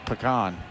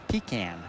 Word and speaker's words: pecan: pie whatever it is it's pecan but you go up north in boston it's pecan we were here first